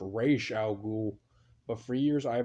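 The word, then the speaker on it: Ra's al Ghul: like i know on the cartoon um it's pronounced racial ghoul but for years i have been saying raw's al ghul as i will also i'm still kind of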